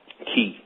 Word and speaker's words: chi: So today, what I really want to talk about is I want to talk about Ki, which we term as the word Chi, but the CH pronounces as a K.